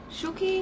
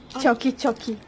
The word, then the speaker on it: Choki: I will be trying Choki. Choki. Choki. So in Indonesia, see we pronounce che. Choki. It's Barbie here. Yeah, my favorite. So say it, choki.